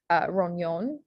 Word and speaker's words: rognon: So examples are beignet, which again is ET as the A sound, and then rognon, which has that GN and Y sound, nia sound.